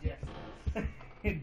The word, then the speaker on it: GIFs: Yeah, these are not GIFs. GIFs? You mean GIFs, sir? No, it's pronounced GIFs.